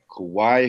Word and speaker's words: Kauai: Yeah, we're in Kauai, Hawaii. Kauai, Hawaii.